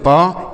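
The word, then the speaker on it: pay: तो ए के बाद वाई रहे तो ए की मात्रा का उच्चारण करेंगे।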